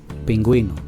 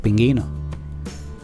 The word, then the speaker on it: pingüino: Ejemplo, pingüino, vergüenza. Porque si escribiéramos pingüino sin la diéresis, entonces diría pinguino.